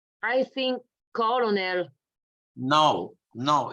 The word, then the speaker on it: colonel: I'm gonna say make just begin to pronounce it so you say colonel colonel colonel you see Colonel mind you this remember this sound it's the phone in swano remember of work word uh World surgery remember and I mentioned that this ER sound you can find it with all like work that you like surgery the E like her or D at the I like girl so